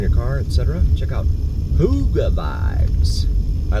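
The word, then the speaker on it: Hygge: Hotel Yankee golf golf Echo Vibes but it's pronounced Huga according to the description on the uh on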